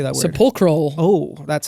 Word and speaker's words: Sepulchral: Sepulchral.